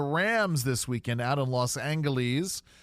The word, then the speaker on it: Los Angeles: this weekend out in Los Angeles cuz yes I say it with a hard G um what's going to